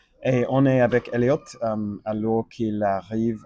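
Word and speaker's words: Elliott: nom et en fait le nom il achète il achève avec deux il finit avec deux T. Donc on prononce le T. Donc c'est Elliot et on est avec Elliot alors qu'il arrive à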